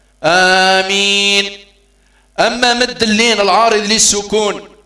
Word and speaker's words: آمين: نبتدي ننطق نطقا سليما، آمين آمين الهمزة هنا فيها مقدار حركتين، آمين كثير من إخواننا يمدونها مد الطول أو مد الإشباع ست حركات، آمين والقي من قرن لا عندها مقدار حركتين فقط، آمين.